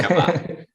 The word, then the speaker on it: Shabbat: Rafa, a pronúncia certa, depois você fala aí, né, mas a gente fala só sabá, né, eu não sei se tem um shabat, né. Shabbat.